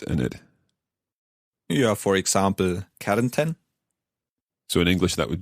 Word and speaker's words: Kärnten: Kärnten. Okay, or Kärnten. Now, so far, when we talked about the pronunciation, we didn't speak about the spelling of the words.